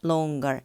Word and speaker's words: longer: 근데 실제 영어에서는 행거가 아니고 hanger라고 얘기를 해줘요. 그러니까 동사에 er 붙을 때는 그냥 어로 붙여주고 형용사에 er이 붙게 되면은 제일 마지막에 g 발음을 넣어가지고 stronger, longer 이런 식으로 발음이 된다라는 것도 같이 알아두면 좋을 것 같아요.